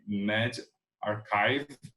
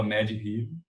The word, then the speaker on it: medRxiv: Então, hoje a gente está vendo muita revisão sistemática com meta-análise fazendo busca em medRxiv. Hoje eu descobri, quando eu fui preparar, que como se pronuncia, eu falava medRxiv, bioRxiv, né?